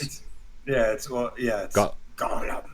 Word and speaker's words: Gollum: It's Gollum. That's how you pronounce it, Gollum.